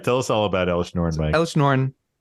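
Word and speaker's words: Elesh Norn: it's pronounced Elish Nornusi Oh, Grand God.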